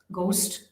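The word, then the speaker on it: ghost: में भी यहां पर भी जो है य साइलेंट है अगस्ट गली गेटो गोस्ट तो इनम भी जो जी एच है य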